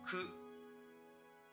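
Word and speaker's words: ク: Ku.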